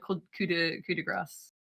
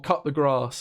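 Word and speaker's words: coup de grâce: We have to go call it coup de grace. or cut the grass, as some Cut the grass, yeah.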